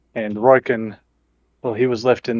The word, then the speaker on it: Ryken: Oh, Riker. Riker's gone? Ryken? Ryken. Ryken? I always get his name wrong.